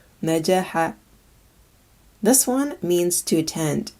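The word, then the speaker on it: نجح: This word means to succeed and is pronounced najaha, najaha.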